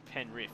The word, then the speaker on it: Penrith: penrith it's in sydney it's usually pronounced penriff because if you just said sydney i would fully understand yeah yeah but penrith maybe if i said pen rip you would you would probably understand that a little bit